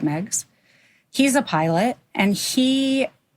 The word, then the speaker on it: Meigs: Meigs, and that's Meigs. But in Chicago, we pronounce it Meigs.